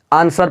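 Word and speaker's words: answer: आवाज़ नहीं निकलेगा तो इसको क्या पढ़ते हैं आंसर पढ़ते हैं क्या पढ़ते हैं तो आंसर पढ़ते हैं ये व साइलेंट हो जाता है क्या बोला तो एस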